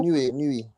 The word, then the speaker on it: Inoue: Those gloves that Inoue, how you pronounce that man's name? That he wears in Japan. Inoue.